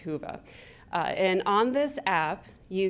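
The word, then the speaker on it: Whova: W and it looks like wove abut it's pronounced huva and on this app you can find our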